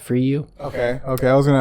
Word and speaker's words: Fryou: my name is my last name's spelled f-r-y-o-u it's pronounced for you okay okay I was